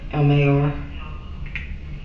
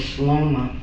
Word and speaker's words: Slomar: No, it's Sloma. Sloma Yeah? Is there a dash? It's a R behind that though. So It's MAR, but it's pronounced Sloma.